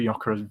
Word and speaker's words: Gyökeres: I think what a signing that is, like kind of you thought the kind of losing Gyökeres, is that who it was?